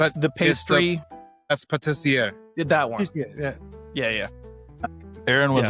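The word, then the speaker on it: pâtissier: No, it's the patisseria or something like that. Yeah, it's the pastry. That's patissier.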